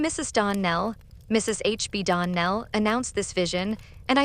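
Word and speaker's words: Donnell: ClariS Almira told me that you pronounced our name Darn Nell. Now Miss Shirley the correct pronunciation of our name is Don Nell accent on the last syllable.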